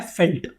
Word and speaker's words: veld: इसका मतलब होता है फील्ड, लेकिन इसको प्रोनाउंस किया जाता है फेल्ट। ठीक है, इसको वेल्ड नहीं बोलते। मैंने आपको ऊपर से बोला कि इसको वेल्ड बोलते हैं, वेल्ड नहीं है, this is known as फेल्ट।